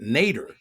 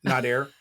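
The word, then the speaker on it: Nader: Nad is short for Nadair. It's a Persian name. My dad was Persian and it's a very very common Persian name but everybody would always pronounce it nater because that's how it's spelled.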